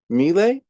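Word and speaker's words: Miele: United States made by melee I think is how you say them me m l e I see Morgan nodding thank you for confirming um so we got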